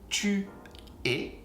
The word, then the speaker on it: tu es: Tu es, es is et. Like this, like if you say zéro est, tu es. Il est, same sound, even if the spelling is actually different, you're gonna say est, il est, he is.